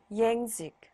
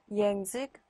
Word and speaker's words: język: 요트는요, 요트는 J 발음 영어 할 때 그거랑 헷갈리시면 안 되는 게 요트는 거의 이 발음이 납니다. 그래서 język, jeden, kraj, ojciec 해서 거의 이 발음이 나죠. język, jeden, kraj, ojciec 앞에